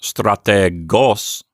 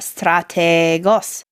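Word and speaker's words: στρατηγός: It's pronounced strategos, and it means general, like the leader of an army. And one thing to notice for our listeners is, Bill, you lengthened out the eta, strategos, even though there's no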